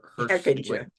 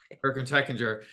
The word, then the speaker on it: Hechinger: I'm gonna pronounce his last name wrong. Hechinger. Hechinger.